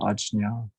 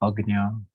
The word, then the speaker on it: Ajna: chakra, the command center, Ajna. In some regions of South Asia, pronounced Agnya.